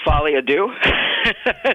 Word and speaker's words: Folie à Deux: Joker Folie à Deux.